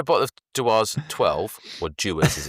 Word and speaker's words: Dewar's: So I had a bottle of Dewar's 12, or Dewar's as it's correctly pronounced, which I just found on the shelf round one of Maria's uncles.